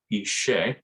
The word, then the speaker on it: Ise: their language and um the pronunciation as i said a little different from how it looks the ise that's that